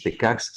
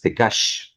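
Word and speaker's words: Tekax: que estás poniendo eh la x en maya suena como sh por lo tanto tecash tecx no es tecx sino es tecash Okay Eh luego arriba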